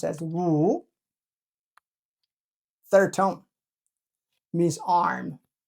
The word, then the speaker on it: 武: This is pronounced as 武(wǔ).